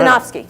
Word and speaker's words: Sinofsky: How do you pronounce his last name? Who? The Ballmer? No. Sinofsky.